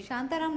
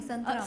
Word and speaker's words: संतराम: शांताराम नहीं है, संतराम। संतराम, sorry, I एम so sorry, pronunciation.